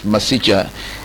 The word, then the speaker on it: Masicha: Yes, Masicha.